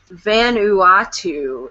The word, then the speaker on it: Vanuatu: hi Dave um so I was pronouncing it wrong which I figured I would but um it's the Vanuatu is the island and Dave said that